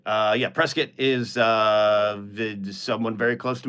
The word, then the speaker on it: Prescott: Anyways, Punch Mike says you pronounced Prescott correctly, just like Biscuit. Yeah, Prescott is someone very close to me was raised in Prescott.